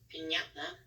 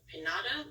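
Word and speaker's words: piñata: so first we have pinata so instead of saying pinata which would how you would do it without this little squiggly Mark since it makes the Nya noise pinata pinata um okay next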